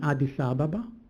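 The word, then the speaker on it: Addis Ababa: They came together in Adis Ababa or some of them say Adis Aba how you want to pronounce it in Ethiopia to express their support for Israel.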